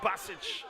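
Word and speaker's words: Bacic: Assistant coach Nerman Basic says let's go back to basics and calm down.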